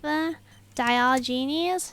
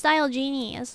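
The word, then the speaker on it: Diogenes: all right quick save di Genies dial Genies oh it's pronounced dial Genies thank you for telling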